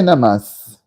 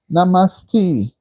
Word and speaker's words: namaste: So when you say namas n Oh namaste. Okay. Namaste.